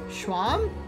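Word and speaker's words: Seam: to do talk about yourself the name seemed pronounced Schwalm let's swamp okay and this is my little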